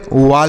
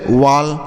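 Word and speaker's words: wall: ए के बाद double L है तो ऐसा उच्चारण किया जाएगा toll W A double L वाल हो गया डब्लू ए डल एल वाल ऐसे पढ़ेंगे वाल डब्लू ए डल एल वा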